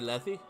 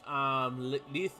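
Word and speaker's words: Lethe: Which I've been saying her name wrong all my years. I always called her Letty. Because that's just how I read it, is Letty. And that's what I always been calling her, but her name's actually Leith. So yeah, fun fact, I've mispronounced her name all this time as Letty to Leith.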